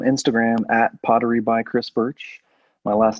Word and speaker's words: Burch: sure so on instagram at pottery by chris birch my last name is spelled b-u-r-c-h and i'm all i have a little etsy shop too it's pottery by chris birch all one word chris thank you for being